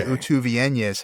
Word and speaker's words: utúvienyes: So what was a short U in tuv becomes a long U in utuv. And that's why utúvienyes has an acute accent over the second U to show that it's a long vowel.